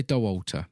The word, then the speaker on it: Dauwalter: was Courtney de Walter would you say oh you would say her name is Liam yeah I think so Walter yeah doll Walter will say doh altar yeah now she won